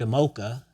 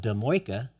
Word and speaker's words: Demoika: So it was like, okay, so growing up, I was marked Demoka, but I changed it because it's spelled Demoika, and I like the flair of Demoika. It has a nice, because I was tired of mocha almond fudge and all the other mochas.